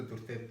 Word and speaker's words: дурте: Вы, наверное, заметили, что когда я говорю «дурте», я не произношу вот эту гласную.